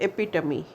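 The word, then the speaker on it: epitome: that a आई am giving you example of एपिटमी right एपीमी spelling is एपिटोम but sound is एपिटमी एपी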